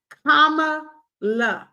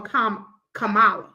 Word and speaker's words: Kamala: got it everybody got it comma La y'all quit calling that woman K Cala that is not her name k okay we don't